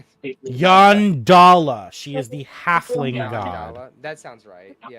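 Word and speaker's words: Yondalla: Y O N D A L L A. Oh, so just like it sounds. All right. Yep. Yandala.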